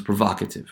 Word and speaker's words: provocative: But notice there that this will no longer be pronounced as the long value, but as the short value in the derived word. So provoke becomes provocative, right? So there is a shift in the value of the way that this syllable is pronounced, no longer long, but short. But the position of stress remains the same.